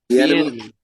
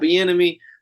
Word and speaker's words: Bieniemy: Bieniemy. Yeah, they got Bieniemy, who, if he is the person that was calling plays, maybe he'll.